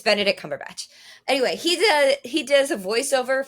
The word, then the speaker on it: Cumberbatch: It's Cumberbatch. I had to make sure because there are people that make jokes and call him Cumberbun. It's Benedict Cumberbatch.